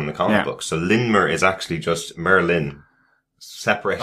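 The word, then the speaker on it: Lindmer: do I'm like oh because the D is silent well so it is spelled Lind but it's lmer is the the D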